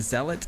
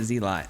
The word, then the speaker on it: zealot: Of course, I was told by my chat I've been saying that wrong for years. It's a zealot and I am fully aware of that. But if you're going to spell it like that, I'm calling it Zlot.